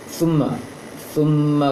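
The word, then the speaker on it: ثم: Kemudian sajada di sini yang diperhatikan surat Naba tadi dalam praktek tanya summa kalla saya'lamun, summa jangan summa, jangan seperti sin.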